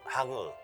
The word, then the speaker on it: Hangeul: Hangeul, Hangeul, Hangeul, Hangeul. Oke, baiklah, Hangeul adalah pengucapannya, itu adalah bahasa Korea , alfabet Korea.